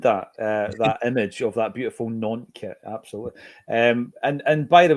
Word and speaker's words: Nantes: The sheer fact that when you pronounce the city Nantes, is you don't say Nantes, you say Nantes.